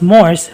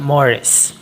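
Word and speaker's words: mores: norms first we have the morris it is not pronounced as morse but morris it refers to the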